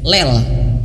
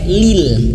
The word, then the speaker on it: lil: Kita baca lil itu kadang tidak sadar membacanya ke lel, ya, lel, bukan lel tapi lil.